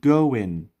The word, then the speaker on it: going: در انگلیسی محاوره‌ای G در اخیر تلفظ نمیشه. اینا را میگن How is it going?